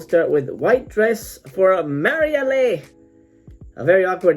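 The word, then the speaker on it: Marialé: on this box set there's white dress from marielle that's how they pronounce it so that's how i'll pronounce it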